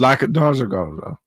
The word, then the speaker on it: lackadaisical: Lackadaisical.